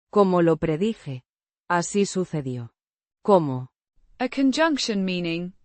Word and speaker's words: así: Pronounced. Así. The Se. sounds like the S in sun.